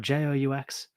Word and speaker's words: Joux: I'm not going to waste too much, but it's JOUX. Anyway, JEU is a game as well, but JOUX.